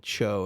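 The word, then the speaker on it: Tcho: this chocolate from a company in berkeley called cho it's spelled t-c-h-o they started just using like i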